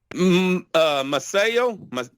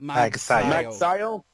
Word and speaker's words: Magsayo: Masayo, how do you say his name? Magsayo. Magsayo, he won the fight.